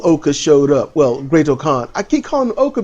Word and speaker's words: Khan: Yeah, Great Khan. It's the whole, you got to say it like a Tribe Called Quest.